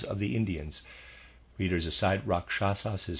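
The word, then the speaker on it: rakshasa: to the auras of the Indians readers aside rasas is spelled r a k s h a s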